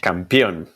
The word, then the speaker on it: campeón: He's 99.9999% champion at this point. Yes. So he'll get my number 1. And how do you say champion in Spanish? Campeón. Campeón. Okay. It's not championa.